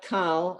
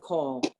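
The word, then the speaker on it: כל: And if you ask why is it not kal, I said it last week and I'll say it until I'm blue in the face. It's irregular. There are certain words in Hebrew that are not pronounced with the kamatz as an ah. They're pronounced with or. And this is one of them.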